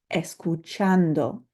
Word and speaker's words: escuchando: You'll notice that I underlined chan because that's the syllable that we're going to emphasize when we pronounce this word. Escuchando, escuchando.